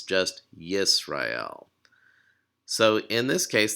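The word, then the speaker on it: ישראל: so in this case the schwa is showing you where the syllable ends so it's yees rah hail so again the schwa just marks the end of a syllable another thing the cylon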